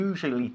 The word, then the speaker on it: usually: I usually check, suelo comprobar, ¿ok? Se pronuncia usually, ¿ok? Vamos a olvidar la U de en medio, no es usually, es usually.